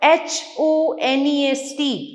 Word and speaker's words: honest: Silent letters like honest, our, HONEST, honest. H से शुरू हो रहा है, but H is silent.